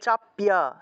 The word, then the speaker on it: চাপিয়া: ইয়ে চাপিয়ামাম চাপিয়াক এখানে দেখুন খিয় আছে থাকলে উচ্চারণ চাপ সারাম চাপ্যাক সারাম অর্থাৎ ক যোগ মূর্ধন্য উচ্চারণ হবে ইয়ে